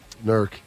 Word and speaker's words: Newark: Newark. W. Lancaster. One syllable.